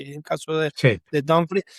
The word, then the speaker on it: Dumfries: antes de que sigas, ¿sabías que no se dice Dumfries? Opa, a ver, Se dice literalmente como se lee, ¿y cómo se lee? Dumfries, con U, ¡Wow!